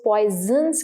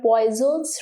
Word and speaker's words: Poisson: Pronounce करते हैं तो कई बच्चे इसको पॉइजन्स कहते हैं, बट इट इज not like that. N जो है साइलेंट है, इट is called पॉइजन्स ratio. पॉइजन्स ratio, ठीक है। एन इज साइलेंट, क्योंकि जो फ्रेंच होती है उसमें आपको पता ही होगा कि एन जो रहता है ऑलमोस्ट साइलेंट रहता है, ठीक है।